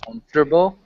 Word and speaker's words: comfortable: still bit by bit so this is three syllables so we say com Noe Comer comforable let's have you repeat comfortable comfortable who Leo can you repeat that okay